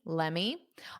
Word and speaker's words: let me: Let me, but a more unstressed, you can say let me, let me. I personally don't say it that unstressed. I pronounce a little bit of the T, let me, let me, let me, let me. So when I say it, you just hear the T a little bit more, but you can say